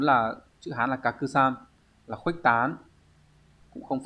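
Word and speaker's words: 拡散: Và số 4 là chữ Hán là kakusan, là khuếch tán, cũng không phải.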